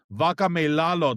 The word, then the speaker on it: Vakameilalo: Today we've got someone special, number 4 ranked super heavyweight in power slap, Kalani, Vakameilalo. Did I say that right? Yes, sir. You said it right.